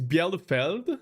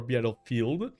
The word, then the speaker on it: Bielefeld: It is Bielefeld. I think that's how it's pronounced, or Bielefeld.